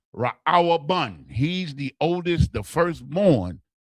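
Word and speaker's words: ראובן: Reuben is pronounced Ra'awabun.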